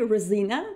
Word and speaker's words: Resina: hello everyone and welcome rosina did i actually pronounce it correctly rosina to our stream yes that's correct that's perfect